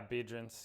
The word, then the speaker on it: Biedrins: Yeah, Biedrins.